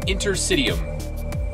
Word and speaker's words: interstitium: And it's called an Intersitium.